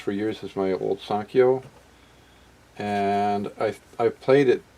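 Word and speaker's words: Sanyo: mispronounce I did uh it's not a Sano it's a sanio s an K yo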